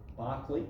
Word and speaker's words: Berkeley: So we will, when we talk about epistemology in term 3, we'll study this guy a bit, who his name is Bishop Berkeley, although it's spelled Berkeley.